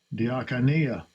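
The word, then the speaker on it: διακονία: Diakonia. That's how it's pronounced.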